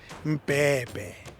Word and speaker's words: Mbebe: Let me get the pronunciation of his surname so I don't unclassify it. Mbebe.